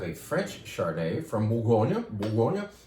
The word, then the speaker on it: Bourgogne: Bourgogne is how the French more correctly say Burgundy. So we anglicized the word Bourgogne because we refused to attempt to pronounce it.